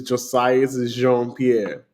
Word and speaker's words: Josiah Pierre: name the correct way cuz I know I butchered it yeah my name is Josiah Pierre John Pierre so I I was I was